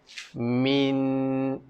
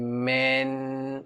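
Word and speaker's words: مِنْ: Jadi, min. Min. Kena senyum. Min. Jangan men. Kalau men, ejaan dia I. Dia bukan men. Bukan men. Dia min.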